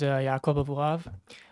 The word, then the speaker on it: Yakov Abuhav: up to speak and I hope I pronounced this correctly Yakov abuhav am I close yes my name is yob abav um I was born